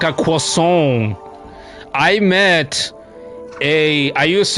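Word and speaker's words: croissant: fluent French speaker and she was adamant she would say it would piss her off when people didn't know how to pronounce the wordon correctly she repeated it to me it's quason you got Get your nose into it in there.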